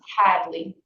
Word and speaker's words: Hadley: the fruit okay and the last name is Hadley h a d l e y where you